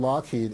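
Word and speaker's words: Loughead: case i find one and then finally from lockheed uh what's the story on this one well the lockheed aircraft company is interesting because it's signed by alan lockheed in the way and he was one of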